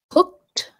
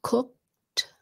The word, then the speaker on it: cooked: Cooked. It ends in that C sound, cooked. So it sounds like a T at the end, cooked.